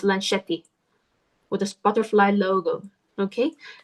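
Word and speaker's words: Lunchetti: from this newborn uh uh sketchbook company called Lan Shetty. So, it's spelled like lunch. L U N C H E T T I. Lan Shetty.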